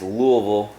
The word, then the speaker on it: Louisville: where were you Bor the way I pronounce it is Louisville say it say it